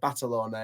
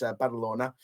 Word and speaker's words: Badalona: Yovan suit uh badalona I keep pronouncing it batalona it's balona um so yeah the first